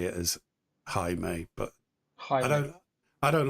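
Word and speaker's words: Jaime: it it it's j me but um it's pronounced highe because it's like j a i m e and it's it's like apparently you're supposed to say it as highe but High I I don't like that because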